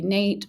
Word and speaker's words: NAET: Uh some people will say NATE or NAT as far as pronouncing it, but it stands for Nambudrapods allergy elimination technique.